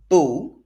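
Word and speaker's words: beaux: comes before the noun boo in the plural form now this is masculine plural b-e-a-u-x pronounced boo still comes before the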